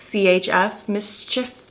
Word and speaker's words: MSCHF: MSCHF, Mischief. That's how I would say it.